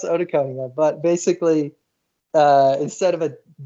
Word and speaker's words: otoconia: It's pronounced otoconia, but basically, instead of it's OTOCONIA.